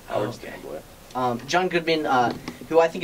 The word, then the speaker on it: Stambler: It's pronounced Stambler. Howard Stambler.